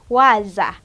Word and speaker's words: waza: Okay, then our next word is waza. Waza, which is spelled as W-A-Z-A.